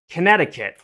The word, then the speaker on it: Connecticut: is why English sucks Connecticut it sounds like uh uh kanetta it sounds like it'd be like this right but the way it's spelled is connect to cut uh connect I hope